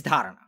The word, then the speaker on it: dharana: So at the end of the day, the first thing that we're going to learn is dharana. Dharana is the Sanskrit word for focus. It's spelled D-H-A-R-A-N-A, dharana.